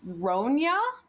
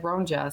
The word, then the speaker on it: Ronja: completely butcher her name I'm calling her R Rona I would like to pronounce it Rona um but when I tried to do like a Google search it said ronja so that's what I'm doing but anyway 10-year-old